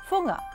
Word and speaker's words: Fuga: Paula's last name is spelled fugga and it's pronounced funga well let's talk about this wonderful honor you've